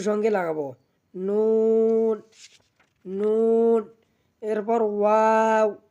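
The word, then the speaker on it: واو: এরপর ওয়াও, ওয়াও, ওয়াও আমরা দুই ঠোঁট হইতে উচ্চারণ করব ওয়াও, ওয়াও।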